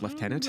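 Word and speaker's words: lieutenant: able to educate them on the uh proper pronunciation of leftenant I think we should try you think it's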